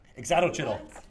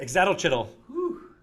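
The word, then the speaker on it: ixitxachitl: It's a itzalcoatl, or how do you pronounce it? Hold on one second. Exatochytl. Wow. What Greg Billsman said. Exatochytl.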